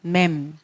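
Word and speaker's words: מ: 그 다음에 맴. 자, 맴 앞에는 맴이 이렇게 쓰이죠. 맴. 끝에 맴 소피트는 네모. 그래서 네모 발음입니다. 네모. M 발음. 맴.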